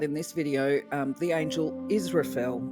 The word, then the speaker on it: Israfel: Today we're going to be talking about in this video the angel Israfel, and it's pronounced kind of like Israfel.